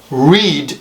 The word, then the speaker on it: read: got burst hurt read Now read is different here's why it's different read the past tense in the past participle the spelling is the same but the pronunciation in the past tense in the past participle is different I read or he reads third person singular with an S I read past tense I read past tence so the the past tence is just different okay the pronunciation of